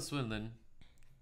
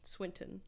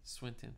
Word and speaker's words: Swinton: fuckups you know anyways till swiland am I pronouncing that right Swinton Swinton forgive me the human